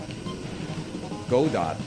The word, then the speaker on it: Godot: Because as the tweet said, Godot rhymes with robot.